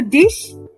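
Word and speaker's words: dich: Oh, dish. No, that is not D-I-S-H, Nitin. It is D-I-C-H.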